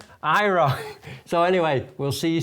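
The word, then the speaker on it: Aira: Me and Alice are going to do a couple more videos about Envision and Ira. I always used to pronounce it wrong. Yeah, I always pronouncing it wrong. So Ira. Ira.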